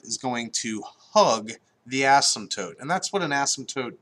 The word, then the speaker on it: asymptote: is called an asymptote asymptote when you pronounce it I think the P is silent so asymptotes and our asymptotes in